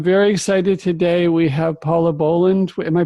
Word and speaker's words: Bohland: We have Paula Bohland. Am I pronouncing your name right?